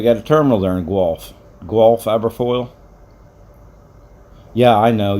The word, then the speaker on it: Guelph: Guelph, okay. Yeah, you're not too far from Toronto. Back when I drove for Schneider, they got a terminal there in Guelph.